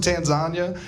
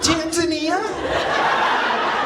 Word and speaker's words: Tanzania: It's Tanzania. It's Tanzania. I only know I know you're like, "Oh, the fat kid thinks it rhymes with lasagna."